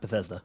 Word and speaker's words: Bethesda: own visceral sound studios in Bessie the Seder Bethesda Bethesda Opeth ESDA Marilyn with guitarist Scott hull